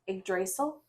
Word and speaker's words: Yggdrasil: So my first whip is Yggdrasil, or might be pronounced Yggdrasil.